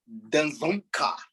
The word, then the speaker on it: Dzongkha: Even worse that time, but that is the that is the Danzonka. Okay. People. Of course, it's not the whole, you don't pronounce this D. DZONGKHA.